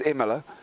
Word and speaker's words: Imola: our feature race winner for today already in Imola. Yeah, we could do as well. And I do love the way you say it, but it is Imola.